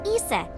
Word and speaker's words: Isis: system probably yeah it's pronounced closer to isse or ASA hmm how do I explain this I told you about horus's Dad Osiris his mom's name is Isis so Osiris is isis's